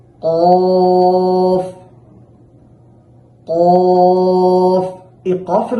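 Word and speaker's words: قاف: আছে সেটার সাথে লাগিয়ে কফটাকে মোটা করে দুই ঠোঁট স্বাভাবিক রেখে উচ্চারণ করতে হবে কাফ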